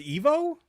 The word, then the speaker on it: Ivo: I apparently I've been mispronouncing Ivo's name. Oh, it's pronounced Evo? He says I've been mispronouncing it. So well, we've both been saying Ivo, so yeah.